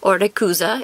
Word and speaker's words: Rayquaza: have this beautiful shining Rayquaza Orta cuza if you go with Japanese pronunciation we've got a soul